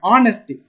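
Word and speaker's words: honest: ஹச்சை எடுங்க, ஆனஸ்ட், ஆனஸ்ட்ன்ற அந்த ஆங்கிற சவுண்டு தானே வருது, ஸோ அப்போ இந்த இடத்துல ஆன்.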